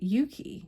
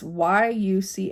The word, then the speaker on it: Yuchi: But then also the Chickasaw, the Shawnee, and the Yuki, which I think that's how you say it. It's Yuchi, and I'm not familiar with that tribe.